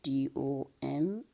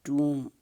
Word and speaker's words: tomb: So whenever there, like here's a spelling system, T-O-M-B. Now it is not pronounced the way it is written. We pronounce it tomb, like this, tomb.